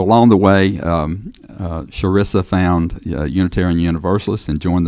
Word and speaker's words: Chrissa: Um, it's spelled with a ch, but it's pronounced with an sh. So, it's sharesa, like sure is nice to meet you, sharesa.